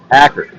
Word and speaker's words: Acker: Acker. Not Acre. That would be the short A. Acker. Long A.